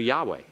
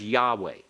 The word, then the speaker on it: Yahweh: Now we will pronounce it. In all of our reading, we'll pronounce it as Yahweh, as Yahweh.